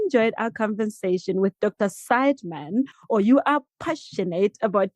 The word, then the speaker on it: Seidman: Am I pronouncing your surname correctly again? Sideman, you said Sideman. Yeah, that's right.